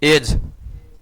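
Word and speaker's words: edge: बताओ घन का, घनाभ का, सरस्वती घनाभ का, तुम बताओ घनाभ का, किनारा का, एज, ईडीजी एज, एज ईडीजी एज पढ़ते हैं, डी साइलेंट रहता है।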